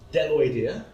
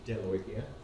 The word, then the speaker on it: Bdelloidea: And they are bdelloidea, the B is silent here, it's just bdelloidea, monogononta, acanthocephala, and Cysonidea.